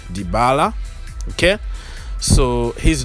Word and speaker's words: Dybala: injury is severe so we might not see dybala or dibala whatever you want to pronounce it but in argentina they say dybala okay so he's not